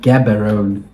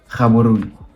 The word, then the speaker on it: Gaborone: Gaborone. I mean, that's not how they pronounce it. But, yeah. This is bad. Okay, It's bad. I'll pronounce it in the language. Gaborone.